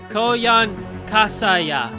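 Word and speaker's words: Koyanskaya: Coan Kaa I think that's how you said Coan kasaya Coan uh I I think I I said it right this time Coan kasaya Coan kasaya Coan kasaya I got it I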